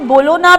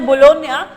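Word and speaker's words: Bologna: Indian, मैंने कहा बच्चों ISSF वर्ल्ड कप ये जो फाइनल है, देखिए आप इसे बोलोना पढ़ेंगे बट इटालियन प्रोनाउंसिएशन है बोलोनिया।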